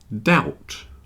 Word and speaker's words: doubt: and liar debt debt doubt doubt and subtle you see they all have something in common they all have the silent B debt doubt subtle debt